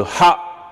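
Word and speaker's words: ح: Le ha correspond à H quand le H est prononcé.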